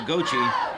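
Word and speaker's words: Gauthier: Well, Gochi and that's uh how they say his name. He spells a g a u t h i e r. I would have thought, but I was informed by these coaches that it's goi gochi.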